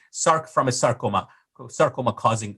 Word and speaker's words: src: is known as a viral Circ it is pronounced as Cirque from sarcoma not SRC sarc from a sarcoma sarcoma causing uh virus viral